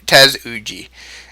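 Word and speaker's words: tesuji: their basic tactic suji TZ uji is uh is how it's pronounced but most go players just abbreviate abbreviated suji I'm going to create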